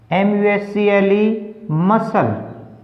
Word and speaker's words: muscle: देखिए SCENE scene, तो सी क्या है, ये साइलेंट है। MUSCLE मसल, SCIENCE science, science.